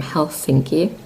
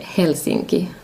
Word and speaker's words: Helsinki: But in Finland, in Finnish, you would call it Helsinki. So, the uh stress would be on the first syllable, and the L isn't as strong as in Helsinki, Helsinki.